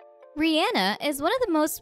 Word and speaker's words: Rihanna: Rihanna prefers to have her name pronounced Rihanna. Rihanna's name is pronounced Rihanna rather than Rihanna, according to a number of videos of the singer demonstrating her pronunciation.